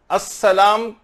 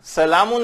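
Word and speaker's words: السلام: नहीं, इसकी इजाजत नहीं, इसको अस्सलामु अलैकुम ही कहना है, सलामुन अलैकुम नहीं कह सकते।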